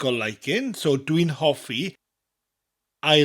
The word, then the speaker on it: hoffi: dislikes the important word in this lesson is javi which means to like or liking javi javi what's a good way to remember this